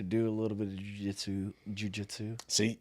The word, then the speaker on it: jiu-jitsu: Anyways, just like in traditional Brazilian jiu-jitsu matches. Said it right that time, buddy. Well, I've been jiu-jitsu. Jiu-jitsu. Really too much emphasis on the first syllable, though.